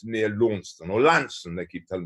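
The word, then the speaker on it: Launceston: farm's down in the southwest it's it's near lawnston or lansing they keep telling me i should pronounce it near lansing and um it's on the devon cornwall border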